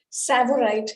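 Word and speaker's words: Tsavorite: having such crystals yes savorite here the tea is silent and uh it is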